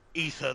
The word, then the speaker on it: aether: The stronger they become, the more ether they require. I can never quite figure out how to pronounce that. Ether, ether is correct.